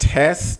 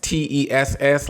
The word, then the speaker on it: TESS: The first thing I really would do, I would go to what you call, I believe it's pronounced TESS, TESS, like .gov or something.